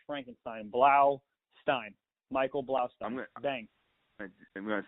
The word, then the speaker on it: Blaustein: It's Stein. I said it wrong again. Michael I wasn't gonna correct you, but you said it really bad that time. It's Blaustein. Blau, Blaustein. Like as in a cartoon, like Blau, and then Stein like Frankenstein.